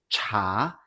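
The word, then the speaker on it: 茶: Let's try some syllables with cha with the second tone is cha meaning tea.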